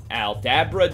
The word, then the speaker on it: Aldabra: serious trouble number 8 aldabra giant tortoise meet yet another long-living cousin of the galapagos tortoise the aldabra giant tortoise is it just me or does that fanciful name rhyme with abracadabra abracadabra aldabra now these fellows can